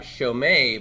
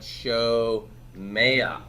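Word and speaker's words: שׁוֹמֵעַ: So it's not shomei, but shomea.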